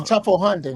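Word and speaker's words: Teufelshunde: That's Tufflehunden.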